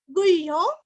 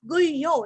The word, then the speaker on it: गुह्यो: गुह्यो, गु के ऊपर आघात, गुह्यो जैसे बाह्य वैसे यहाँ पे गुह्यो, गभीरो भी दीर्घ, गहनो, गुप्तश्चक्र,